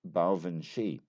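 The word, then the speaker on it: baobhan sith: It's spelled B A O B H A N S I T H and it is pronounced Bshi.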